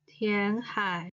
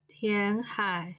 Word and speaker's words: 填海: We can see that there are two Chinese characters, Tianhai, land reclamation, in many Chinese reports.